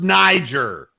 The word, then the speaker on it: Niger: And yes, Donald, it's pronounced Niger.